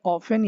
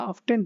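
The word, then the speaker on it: often: इसे ऑफन या ऑफ्टन दोनों प्रोनाउंस कर सकते हैं आप, क्योंकि ये जो है एक ब्रिटिश है, एक अमेरिकन है।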